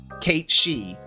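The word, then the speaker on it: Cait Sith: stuff so it's like Kate she it's one of those words where it's not pronounced how it's written and it's always been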